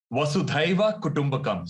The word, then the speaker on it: Vasudhaiva Kutumbakam: Could you pronounce it for me? Vasudhaiva Kutumbakam.